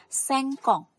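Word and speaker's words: cinquante: Kemudian 50 cara pengucapannya sengkong.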